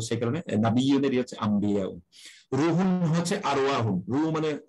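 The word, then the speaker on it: أنبياء: এটা কিন্তু আনবিয়া না, এটা শুদ্ধ উচ্চারণ ময়ের মতো হয় না, ময় ব হয় আর কি, আম্বিয়া।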